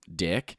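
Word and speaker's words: Dyck: when they immigrated here, the original pronunciation of the name was different, but no one knew how to say it, so they just said Dick, and that's how we pronounce it to this day. But it's spelled with a Y. It's not spelled with an I.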